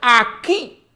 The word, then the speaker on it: aquí: respecto a qué aún aquí esta palabra como decía ortega y gasset compuesta d dos monosílabos aquí que con el caer del acento en la y en forma de rayo